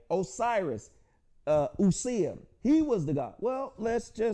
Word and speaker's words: Osiris: Osiris and Isis. This is the anglicized Greek pronunciation of the words. Usir, right? Osset, right?